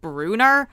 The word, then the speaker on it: Brunner: Brunner Kyon okay look I know it's pronounced Bruner but that does not sound right to me so sorry